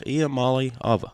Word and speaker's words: Iamaleava: He was like, "It's Iamaleava."